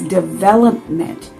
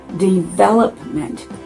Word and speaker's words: development: the devil either so the word is development the emphasis on the second syllable development that's the correct pronunciation